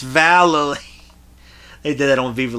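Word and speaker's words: Vallely: Uh, Shawn White, who was also a baby at the time, and Mike Vali, not Valle, it's Valerie.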